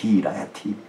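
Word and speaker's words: רעיתי: 그래서 나의 사랑, 그 사랑을 라야라고 하는데 거기다가 이를 붙여서 라야 이인데 거기는 T 발음이 하나 들어갑니다. 라야티.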